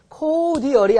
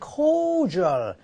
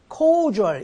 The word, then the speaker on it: cordial: 그래서 제가 미리 좀 여러분한테 소개하려고 써놨는데, 여기에 코디얼이 아니고 보통 발음은 cordial, cordial 이렇게 발음해요.